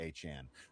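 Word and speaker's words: Achane: No at the end is fine. No problem. It's actually achan. I I am flabbergasted and always will be. But I will always call him achan from now on though.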